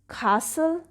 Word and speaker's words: castle: list of st digraph in which t is silent and only s will say its sound the first word is castle st is here but